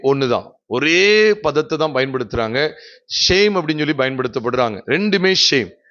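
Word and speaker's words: שם: Shame அப்படின்னு சொல்லி பயன்படுத்தப்படுறாங்க, ரெண்டுமே ஷேம். அங்கேயும் ஷேம் தான், அதே எபிரேய உச்சரிப்பு ஷேம் தான்.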